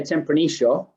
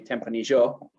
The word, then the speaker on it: Tempranillo: so I'm a porteño, and we go sh with the double L. In Mendoza, they're a bit closer to the Spanish pronunciation. They do Tempranillo, so there are some.